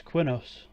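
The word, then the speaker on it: Qeynos: Oh yeah, I always pronounce it as Quinos.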